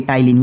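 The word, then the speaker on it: ptyalin: भी एंजाइम होता है, ये टाइलिन, ये इसमें भी पी साइलेंट होता है, ठीक है।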